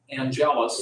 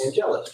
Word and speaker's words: Angelus: Number 309 would be, I'm going to pronounce it Angelus. Angelus, you hit it perfect.